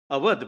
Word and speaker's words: Awadh: becomes a governor's province, Awadh, my lord, why should we say Audh, my lord? The Britishers were unable to pronounce, therefore they used to say Audh.